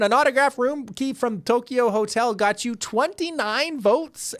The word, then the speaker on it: Tokyo: Nigel, I'm just gonna point out because I'm a linguist and I like Japanese that Tokyo is misspelled. The actual pronunciation would be Tokyo.